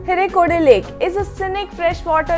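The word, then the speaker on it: Hirekolale: other states of Karnataka, the lake's name is pronounced as Hirekode Lake. Please do not go by the spelling. It's like, I know there is L added to the spelling, but this is how the local people pronounce Hirekode Lake.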